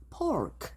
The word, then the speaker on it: pork: P는 파열음이기 때문에 프 발음을 하셔서 pork 이렇게 하시면 됩니다. F로 하면 찍어 먹는 포크가 된다고 했고 말은 do you need